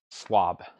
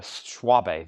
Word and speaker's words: Schwabe: could he say no e is silent okay swab I really wanted to say schwabe though I guess that's